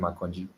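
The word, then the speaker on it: Akanji: And yes, that's actually how to pronounce his name. Akonji, a Nigerian name.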